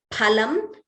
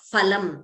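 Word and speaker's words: फलम्: the pronunciation, it is phalam, it is not phalam. We do not have pha in Sanskritam. It is phalam. So please note the pronunciation of that letter.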